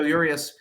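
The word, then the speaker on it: Urías: But I don't know if they're setting him up to try to save Julio Urias.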